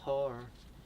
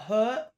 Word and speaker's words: heart: your heart. In your heart. 네. 기다려 What's in your heart I can't Wrong. Heart. Not hurt.